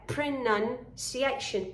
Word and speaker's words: pronunciation: is pronunciation actually because many students say pronunciation have you heard that yeah yeah i have it's a short uh sound there pronunciation pronunciation and you should